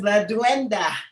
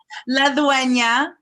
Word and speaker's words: La Dueña: Ladies and gentlemen, known as La Duenda. Did I pronounce it right? La Dueña.